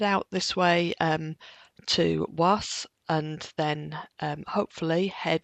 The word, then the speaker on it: Walls: After that, we're going to head out towards um a place that's spelled Walls, but apparently pronounced was um or something like that.